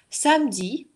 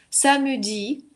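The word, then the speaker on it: samedi: Самюди тоже можно услышать. Это такой очень аккуратный язык, редко вообще, но в принципе можно. Самюди тоже протранскрибируйте отдельно рядом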